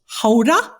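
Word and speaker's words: Gouda: derailed our conversation but uh guda is not pronounced guda is pronounced Hoda did I get it right say it yes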